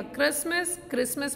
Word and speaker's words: Christmas: Wrong में हमने W को प्रोनाउंस नहीं किया. क्रिसमस में T प्रोनाउंस नहीं हुआ.